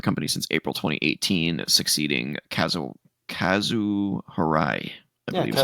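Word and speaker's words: Kazuo Hirai: He replaces, Kenichiro Yoshida, who served as CEO of the company since April 2018, succeeding Kazu Harai.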